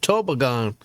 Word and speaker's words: toboggan: the world hold on we've been pronouncing toboggan wrong the whole time he said tobagon I would have never